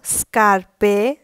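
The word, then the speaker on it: scarpe: দেখলাম এখন দেখবো এসএ স্কায়ে একটি শব্দ হলো স্কার্পে যার অর্থ জুতা তারপর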